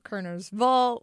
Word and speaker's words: Kernersville: Like you could say ville or val on some of these Like back where I'm from, you know, there's Kernersville, Kernersval.